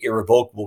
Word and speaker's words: irrevocable: rural part of Maine we just say irrevocable because it's pronounced like it looks like that's way should be pronounced and the irrevocable trust